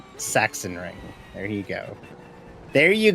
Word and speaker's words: Sachsenring: Also, Sachsenring is pronounced Sachsenring.